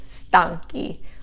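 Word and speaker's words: stanchi: and marco sono stanky also with an h because the accent now is not on the third to the last syllable it's on the second to the last syllable stanky okay how's how is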